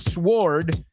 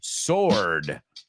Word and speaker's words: sword: weird word too because we don't pronounce the W it's not sword it's sword it's a double-edged sword